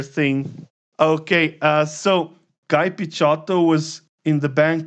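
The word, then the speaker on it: Picciotto: rehearsals called guy picchotto so i pronounce this as pichato because this is the right italian way i'm not sure how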